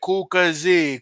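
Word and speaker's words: Kukësi: So if you're ever in the mood and you want to wrap your Albanian colors, just say Kukasi, Kukasi.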